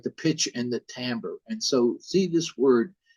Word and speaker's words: timbre: the pitch and the timbre and so see this word t-i-m-b-r and uh it's pronounced by musicians timbre and sometimes people say timber and but that's not